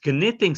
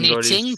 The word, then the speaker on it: knitting: His other half is knitting something. Knitting, but don't pronounce the K.